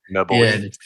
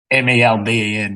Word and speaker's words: Melbourne: Not at all how it's spelled. Melbourne. MELBEN, Melbourne. Yeah, it's never the born part.